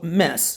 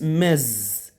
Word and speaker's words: Ms.: So, mess. What we call this one, most people say in mess. That's wrong. The pronounce is mez. Z, z, mez, mez.